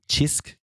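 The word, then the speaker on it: Cisk: I also totally know um chisk that's how you say it the Maltese beer oh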